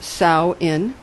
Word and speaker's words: Samhain: world nor the other salan pronounced sow in the owl rhyming with cow is Irish Gaelic for